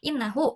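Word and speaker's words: إنَّهُ: Nah, jadi kalau ada yang huruf-huruf itu, terus setelahnya kalian mau ngomong inna, contohnya di sini ja'aladzi innahu najihun. Jadi dibacanya i bukan a. Jadi innahu najihun seperti itu.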